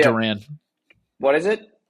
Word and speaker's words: Duran: for everybody traded away everybody Kasa see you Durant Jan I combine that there it's pronounced Duran what is it it's D an oh okay